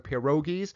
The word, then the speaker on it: pierogi: Here I am making some pierogies, or pierogi as they are pronounced, and pile up some onions, and you got sauerkraut on the side, and enjoy the sour cream.